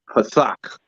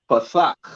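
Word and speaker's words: פתח: Pathak, right? Pa, thak. When you see when you start pronouncing, you see this connector here, right? It's upside down, right? Sound that out. You sound out the pa, and when you see the connector is thak, pathak, right?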